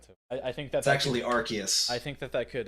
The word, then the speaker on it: Arceus: this one's immediately funny nintendo confirms arceus pronounces arges i love it i like that too i think that's actually arceus i think that that